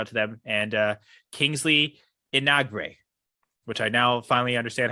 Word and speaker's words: Enagbre: It's pronounced Enagbre. That sounds good. Yeah. Kingsley Enagbre.